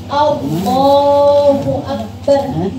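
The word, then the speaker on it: الله أكبر: Kayaknya ada yang panjang, maksudnya itu lamnya. Allah, lamnya yang panjang kan? Allahu Akbar, gitu kan? Nah itu memang harus panjang lamnya. Tapi kalau A depannya itu nggak boleh panjang.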